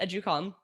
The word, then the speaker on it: Educalme: me at the end um but yeah it's pronounced educalm um so yeah start at the website um